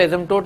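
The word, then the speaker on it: asymptote: एसिम्प P silent है, एसिम्पटोट है ना।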